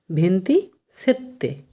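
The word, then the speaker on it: ventisette: ভেন্তি সেত্তে। কি উচ্চারণ হবে?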